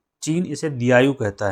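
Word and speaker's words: Diaoyu: चीन इसे दयायु कहता है। दयायु मैं स्पेलिंग लिख रहा हूं।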